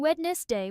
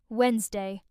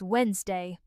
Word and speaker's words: Wednesday: Many learners pronounce this as it is written, saying Wednesday with 3 syllables. However, in British English, the first D is silent, and we say this word with only 2 syllables. Wednesday.